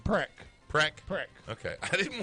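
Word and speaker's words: Precht: Preck.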